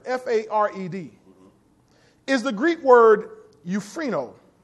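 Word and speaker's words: εὐφραίνω: that word fared f-a-r-e-d is the Greek word euphrino spell e-u-p-h-r-a-i-n-o euphrino it's pronounced euphrino it means to Gladden to make joyful to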